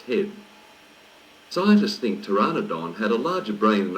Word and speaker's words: Pteranodon: lines page 14 Pteranodon Pteranodon starts with a silent p it's pronounced there are nadaan the name means toothless